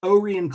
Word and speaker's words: Orion: brother orion and it's it's spelled like orion but they pronounced it with a long o o ray and clemens so to finish